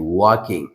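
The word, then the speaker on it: walking: ধরো আমি বললাম ওয়াকিং ডব এল কে আই এনজি ওয়াকিং। এখানে অনেকে আছে এইযে এলটা দেখছো না এটা সাইলেন্ট ওয়ার্ড। এটা কিন্তু উচ্চারিত হবে না।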